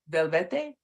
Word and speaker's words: Velvete: Velvete, metaphysician. Come on in. It's pronounced velvet, just like the material.